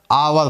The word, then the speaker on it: hour: लोग होते हैं ना, इसको क्या बोलते हैं, आवर पढ़ते हैं, आर बोला जाता है, क्या बोलते हैं, आर, या आर बोलते हैं, ठीक है।